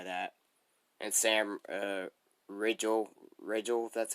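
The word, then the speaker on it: Riegel: i can't deny that and sam uh rachel rachel that's how you say his name yeah i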